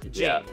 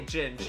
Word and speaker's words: Jing: Now I forget how to pronounce his real name. Jing, I think, right? It's Jing. Yeah, so we do Jing, know. But we still say Ginge, even though some people